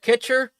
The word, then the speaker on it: Kitcher: Am I saying it right at Kitcher? Yep, that's the one, mate. Okay, I was just curious because in Discord there it looks like it says Kutcher.